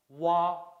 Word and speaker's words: wa: Wa. Wa sounds like wa as in wash and the wa in wonder.